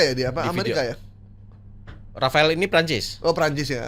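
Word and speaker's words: Rafale: Bacanya gimana? Rafael ya.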